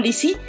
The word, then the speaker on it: Lisi: Lizzy se escribe L-I-S-I, y en Instagram Lizzy-.